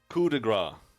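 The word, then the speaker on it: coup de grâce: We're gonna find out how to pronounce that shit. Coup de grace.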